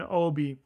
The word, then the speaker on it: OBI: I think you pronounce it OBI. It's literally the letters OBI.